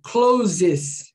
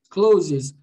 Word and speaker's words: clothes: Closes. Closes. Ah, não tem nenhum Z aqui. Pois é, mas aqui no caso, esse TH tem som de C, alright?